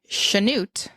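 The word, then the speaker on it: Chanute: sha is it CH it is spelled CH yes but apparently pronounced like an sh that happens I don't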